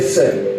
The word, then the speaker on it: CERN: C'est un centre qu'on appelle Sœur. Dis avec moi Sœur. Dis encore Sœur. Bien si tu ne sais pas prononcer, vas-y même dis Sœur.